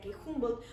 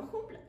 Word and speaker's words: Humboldt: prusiano Humboldt, que bueno, ni siquiera pronunciaban bien su nombre, dado que era Humboldt y no Humboldt.